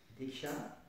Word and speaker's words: Diksha: Dans le mot Diksha, par exemple, c'est un mot sanskrit qui il y a deux syllabes. Diksha.